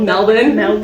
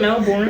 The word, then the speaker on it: Melbourne: his burgers all over Melbourne, and I love Melbourne. Say it right. I can't even say it. Wasn't it Melbourne? Or Melbourne. Melbourne. They say Melbourne. Yeah. I don't even know if Melbourne. They say Melbourne. Ew, it's spelled Melbourne, but it's Melbourne.